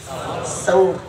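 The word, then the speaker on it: ثور: Public কয় সুর গুহা, সুর না কি সাউর, সার মধ্যে জবর।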